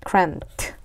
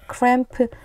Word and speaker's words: cramped: 답답한 뜻을 가지고 있는 cramped 자 이것도 스펠링으로 보면 크램프 이렇게 발음해야 될 거 같은데 마지막 소리가 트입니다 크트 답답한이라는 의미를 가지고 있어요